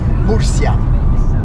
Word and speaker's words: Murcia: Murcia. That's the right pronunciation on Spanish. Murcia.